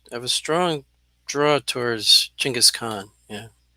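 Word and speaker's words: Genghis Khan: have a i have a strong draw towards chingus khan yeah jing is coming yeah this is how you pronounce it something i learned here's my answer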